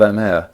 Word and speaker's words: Amer: Alternatively spelt with a B, but however spelt, usually pronounced Amer.